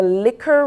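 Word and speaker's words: Licc'er: we have with us shanana MIRS of the liquor room 9 and is pronounced l i c c apostrophe e r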